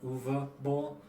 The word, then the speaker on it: Uwe Boll: Especially, and during the last video, I mispronounced his name. Sorry, but it's a Uwe Boll, not Uwe.